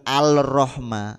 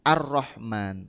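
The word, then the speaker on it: الرحمن: gak ada harakatnya jadi lam yang tidak berharakat dianggap tidak ada makanya enggak kebaca arro arro Arrahman Jadi bukan alrahma tapi Arrahman langsung ya contoh lain attawwab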